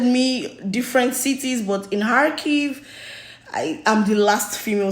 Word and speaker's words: Kharkiv: Yeah, in Kharkiv.